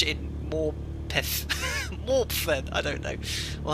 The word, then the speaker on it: Morpeth: You're not supposed to pronounce the E as much in Morpeth.